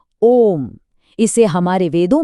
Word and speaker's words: ॐ: अब देखिए ओम का उच्चारण तीन हिस्सों में बंटा है। अ, ओ और म।